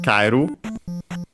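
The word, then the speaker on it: かえる: uh in this case accented on the first syllable. So yeah again uh instead of the second to last simply because uh it's the second to last syllable. So actually kaiu in this case it's considered a diff thong. So yeah the accent is on the car.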